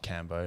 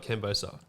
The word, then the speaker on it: Cam Bostock: Just Cam Bostock, CAMBOSTOCK. Yeah. Not Cambo.